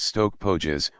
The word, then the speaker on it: Stoke Poges: off on another tour, to Stoke Poges church, pronounced Stoke Pógees, where Thomas Grey wrote the elegy.